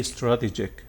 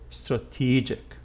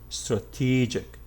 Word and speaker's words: strategic: word you see that this t is a true t and after the t you have a long vowel e strategic in the noun